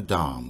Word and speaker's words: DOM: can show it on the Dom which rhymes with mom not dome which rhymes with home the last two price